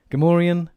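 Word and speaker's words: Gamorrean: not so the emphas gamaran is like the emphasis is on the gam then you've got gam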